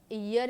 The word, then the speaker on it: year: इन अ ईयर के पहले हमेशा याद रखना है गाइज ये अ का यूज किया जाता है बिकॉज ये ई नहीं ईयर इससे प्रोनाउंस किया जाता है.